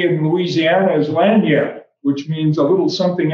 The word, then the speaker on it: lagniappe: And if you're interested, it's spelled L-A-N-G-I-A-P-P-E, lagniappe, just like it sounds.